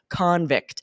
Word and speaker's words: convict: That means to declare someone guilty of a crime, but spelled the same way, it's also a noun with the emphasis on the first syllable, convict, which is a Jeez.